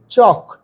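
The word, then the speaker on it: chalk: দেখি তো পেন বুক সি এইচ এল কে চক এল এর উচ্চারণ হয় না উজ্জ্ব থাকে ক্লাসরুম পেন্সিল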